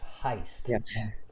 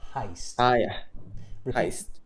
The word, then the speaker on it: heist: one word that was mispronounced Heist Heist repeat after me Heist Heist yeah it's an eye Heist money Heist okay but